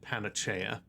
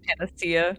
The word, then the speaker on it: panacea: goes go onion uh pronounce pronounced it panachea. That's good. Mhm. Medicine instead of panacea.